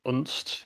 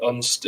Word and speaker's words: Unst: I was saying I'm not exactly sure how it's pronounced myself, but I believe Unst is correct.